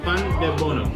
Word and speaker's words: pandebono: This one is pandebono. Pandebono. Pan is bread, and then de bono.